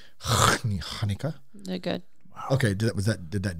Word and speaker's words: Hanukkah: Yeah, you do have to say it like that. Hanukkah.